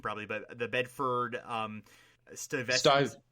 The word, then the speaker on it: Stuyvesant: He grew up in the I'm going to butcher the pronunciation probably, but the Bedford Stuyvesant. Stuyvesant.